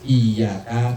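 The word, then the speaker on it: إِيَّاكَ: Misalnya baca iyyaka dibacanya ngelojor, enggak pakai tasdid.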